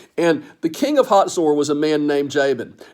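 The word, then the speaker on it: Hazor: the most significant city in the north is a city it looks like it's hazel or h-a-z-o-r it's actually pronounced hot sore and the king of hotzor was a man named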